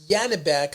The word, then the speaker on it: Janibek: This guy Yanbeck, I'm spelling it with a J. It's actually spelled with a Z. So, you know, I'm going to go in there and correct that in a second, but it's Yanbec Alam, right?